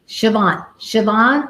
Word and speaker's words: Chevonne: Siobhan.